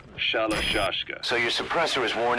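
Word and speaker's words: Shalashaska: Someone must have known about that, because somewhere along the line, Shashka got stuck on the end of Sharashka. The guerrillas were using the name amongst themselves, and by the time I got to hearing it... pronunciation had wound up as Shalashashka.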